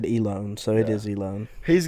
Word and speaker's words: Elon: Elon or Elon? It's Elone. Elon.